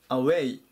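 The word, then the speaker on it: away: します 744 板アウェイアウェイアクセントに注意ですね後ろを強く読みます離れてとか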